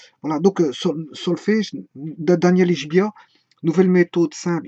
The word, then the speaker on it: Ichbiah: Voilà, donc solfège de Daniel Ishbia, nouvelle méthode simple. Ishbia s'écrit I-C-H-B-I-A-H.